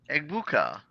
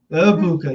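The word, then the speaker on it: Egbuka: And another pass catcher onto the Tampa Bay Bucks, Amecha Ibuka. Yep. The G is silent. The G is silent. Mecha. Ibuka.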